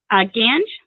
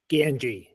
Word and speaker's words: Ganji: Gange? Ganji. Ganji. Yep. I apologize. Like the river without the S.